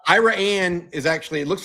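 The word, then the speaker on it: Iraan: It's Ira Anne is actually it looks like Iran.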